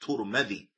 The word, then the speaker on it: Tirmidhi: Tirmidhi, and Imam at-Tirmidhi, his name could also be pronounced Turmadi. Naam, either Tirmidhi or Turmadi.